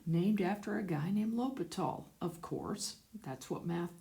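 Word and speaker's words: L'Hôpital: a lot of times sometimes people call them spell it l'hospital's rule but it's a French word named after a guy named lopat all of course that's what math does so what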